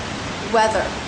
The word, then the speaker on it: weather: But the thing about weather is both as a noun and as a verb, it's pronounced the same way. Stress on the first syllable, weather. Normally there will be a difference in pronunciation.